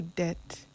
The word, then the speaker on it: debt: So it helps even when it comes to debt, right? And by debt I mean money debt, not that debt. I told you the B is silent, right?